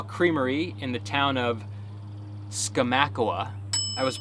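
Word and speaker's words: Skamokawa: at a small creamery in the town of skomakowa i was pronouncing it wrong up until we got there not skamakoa it's skamacawa these washington names the owners and farm hands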